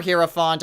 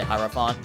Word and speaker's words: Hierophant: Or Hierophant. I think both pronunciations are correct. I'm just gonna say Hierophant.